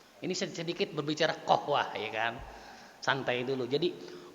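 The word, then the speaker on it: قهوة: Masa qaf dibacanya alif, Pak? Ahwah. Jauh nggak qaf dari qaf jadi ke alif? Kalau qaf ke goin masih mendekati makhraj. Qahwah, gohwah.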